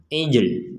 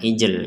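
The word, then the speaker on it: عِجْل: Namun, Anda tidak boleh, misalnya, mengatakan "ijel" karena itu berarti menambahkan—eh—menambahkan harakat tambahan seperti "ijil", "ijl", padahal ini bukan "ijel"; 'Jim' tetaplah Sukun.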